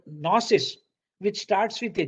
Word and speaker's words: gnosis: phonetically though it is the g is not pronounced it is retained in spelling because this g is